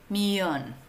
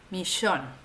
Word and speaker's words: millón: pero es cierto que en algunos países hay particularidades por ejemplo en Centroamérica se pronuncia como en francés millón y en Argentina hay una pronunciación particular misión entonces Yo te recomiendo